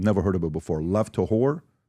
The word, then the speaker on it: Lev Tahor: Lev Tahor. Lev Tahor.